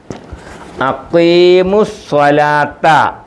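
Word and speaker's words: أقيموا الصلاة: അടുത്തത് അഖീമുസ്സലാത്ത അഖീമു. 3 നീട്ടുണ്ട്, നീട്ടി വായിക്കത്തില്ല. മീമിന് ലമ്മു മു. വാവുണ്ട്. വാവ് പദത്തിൻ്റെ ഇടയ്ക്ക് വന്നതുകൊണ്ട് ഉച്ചാരണമില്ല. വാവീബു എന്ന് പറയത്തില്ല. ഇവിടെ ഒരു അലിഫുണ്ട്, ഈ അലിഫിന് ഉച്ചാരണമില്ല. ലാമുണ്ട്, ലാമിനും ഇല്ല.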